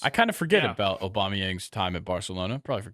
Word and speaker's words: Aubameyang: for a mispronounce I all I said was aubameyang on accident it's aubameyang I I get it he